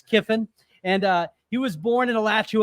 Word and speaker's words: Kiffin: And you can see it spelled with two I's. He's not Kevin, it's Kiffin.